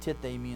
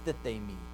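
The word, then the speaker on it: τίθημι: There's going to be a deaspiration of the first one, and it becomes tithemi instead of thithemi.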